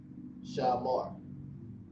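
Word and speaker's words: שמר: Shamar. That's how you say keep in the ancient Hebrew.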